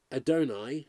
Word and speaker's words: Adonai: Some think Adonai rhymes with majesty, others with earth and sky.